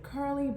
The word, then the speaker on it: Kurlee: So curly, Kurlee, is the pronunciation of the word curly, Curly, right?